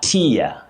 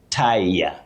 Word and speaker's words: tier: When you talk about a layer, a tier layer, you say tier, tier. But, when you talk about a person who ties something, you say tire, tire.